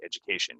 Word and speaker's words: education: famous these words uh it's a j this D is gonna sound like a j so it's educate Ed Ed Ed Ed educate education graduate graduation um so you want